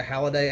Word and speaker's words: Halliday: And Halliday, it's pronounced a Halliday actually, is a member of